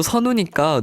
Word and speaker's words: 선우: 근데 우디도 선우니까 누누라고 불린 적이 있지 않을까요?